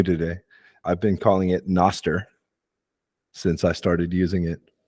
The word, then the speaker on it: Nostr: Another thing is I didn't know how to properly say Noster is how you say it? Or Nostra? Nostra? Star. No star. Okay. No, as in no star.